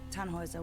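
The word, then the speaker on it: Tannhauser: why what's your name tanhauser we'd pronounce it taner with an um German Roots yes my grandpa these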